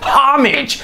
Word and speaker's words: homage: I say homage because in French you don't pronounce the H in homage it's not homage is homage or homage but apparently you guys